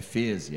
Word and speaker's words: Feze: olha, só para saber, a pronúncia certa é Feze, é alemão e por aí vai.